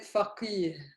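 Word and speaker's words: فقيه: Look at the difference. I said faqih. This is faqih. Hmm? The ha is much harder.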